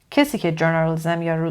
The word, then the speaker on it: journalism: nine journalism journalism journalism stress is on the first syllable journalism a journalist a journalist